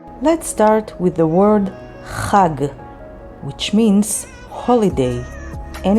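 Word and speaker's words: חג: Let's start with the word Chag, which means holiday, and it's spelled with Chet and Gimel.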